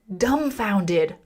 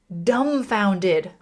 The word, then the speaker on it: dumbfounded: And notice the B is silent. We don't say dumbfounded. Dumbfounded. Dumbfounded. Repeat after me. Dumbfounded. Dumbfounded.